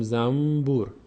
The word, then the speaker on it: زنبور: در فارسی ما داشتیم مثل زنبور زنبور که ما زنبوره زنبوره اما زنبور نمی‌خوریم چون تلفظش سخت میشه میگیم زمبور نون رو تبدیل می‌کنیم